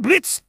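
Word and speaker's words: Blitzø: him in front of me hi there i'm blitz theo is silent and i'm the founder of are you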